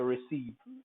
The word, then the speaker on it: receive: EI is also pronounced like E, so receive, as in receive.